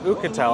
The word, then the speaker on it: Oukitel: So it's actually pronounced Oukitel, I just found that out.